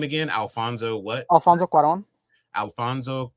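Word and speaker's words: Cuarón: Alfonso Quaron. Alfonso Karon. Karon. Quaron. It's a cool. It's a c u a r o n. Quaron. All right, I got you.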